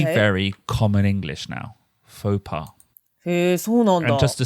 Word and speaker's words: faux pas: Faux pas.